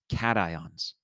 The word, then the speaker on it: cation: to positive ions is cations and it's said like that it's not cations or cachens cations and so you can